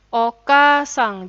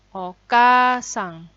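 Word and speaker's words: おかあさん: kita lihat nomor satu Oka sang jadi pengucapan itu harus sesuai dengan tulisannya ya kalau double vokal maka pengucapannya juga panjang Oke sang Jadi tidak boleh Oka sang tidak boleh harus Oka sang penulisannya vokal ada hurufnya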